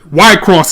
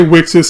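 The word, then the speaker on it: WIXOSS: dark chow and that's what white cross is white cross is actually the correct pronunciation some say wixes is actually y cross basically what it is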